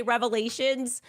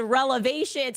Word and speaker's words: revelations: And look, she meant to say revelations, but she said relevations.